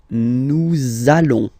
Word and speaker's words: nous allons: it does mean that you will have to pronounce this z sound, okay? Listen to me. Nous allons.